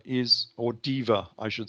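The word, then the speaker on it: Deva: the story of Fortress dewa Is or Diva I should say is interesting it's spelled with a W but in Latin they normally pronounced it as a v so it normally comes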